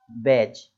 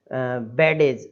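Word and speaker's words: badge: जैसे ये वर्ड है तो क्या लिखा हुआ है, बैज, बैज, बेडेज, इस तरीके से नहीं पढ़ना, बेड्स, बेड्स, ऐसे मतलब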